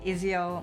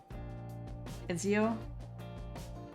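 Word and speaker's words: Ezio: Ezil, I feel like that's how it's pronounced. More of a hard Z.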